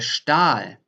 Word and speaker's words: Stahl: So first, if the ST is at the beginning of a word or if the ST is in the middle of a word, that's different in the pronunciation. For example, der Stahl, the steel, der Stahl.